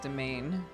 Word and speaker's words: demesne: It looks like Demesna. Oh, But it's pronounced domain.